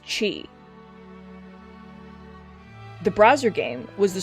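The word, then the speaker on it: χ: what is cuck Kingdom heart's Chi it's pronounced Chi the browser game was the story of your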